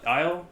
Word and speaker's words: Isle: black uh isle games is that how you pronounce it black isle aisle yeah yeah yeah uh the